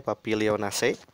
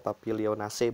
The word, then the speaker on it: Papilionaceae: berkat orius l keluarganya papilionaceae cara membacanya bentar membaca keluarganya adalah papilionaceae bukan papilionaceae melihat zat berkhasiatnya ada